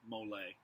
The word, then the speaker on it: Molay: the stake you can spell at m-o-l-a-y mole jacques de malay at